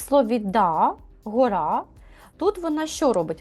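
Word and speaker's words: dağ: Вона сама не читається, але попередню літеру вона голосну подовжує. Тобто в нас ця а як подвійна буде. Ми не да кажемо, да? А да, як довга така, да, да, гора.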